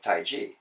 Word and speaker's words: Taiji: and in opinion it's spelled tae ji and that's closer to the pronunciation of Taiji in in the oldest